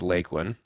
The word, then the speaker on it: Lakeland: school there circa 1910 she pronounced it as lakelyn well John your grandmother was correct it is lakelyn now there's lots of